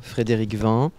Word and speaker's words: Frédérick Vin: Frédéric Vin, si on prononce bien comme cela, mais absolument.